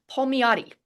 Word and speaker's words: Palmiotti: I am here with Owen Palmiotti. Did I pronounce that right? You got it. Palmiotti.